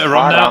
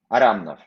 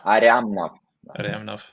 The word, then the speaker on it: Aryamnov: So is it Aramnov or is it Aryamnov? Aryamnov. Yeah, Aryamnov. Andrei Aryamnov. Yes.